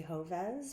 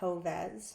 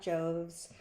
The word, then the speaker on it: Joves: to introduce myself so my name is hoves pronounced hovez not joves not jovez it's my fault i i agreed to take